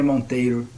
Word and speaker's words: Monteiro: know like because we in brazil we kind of roll our rs so i say montero monteiro but the way you said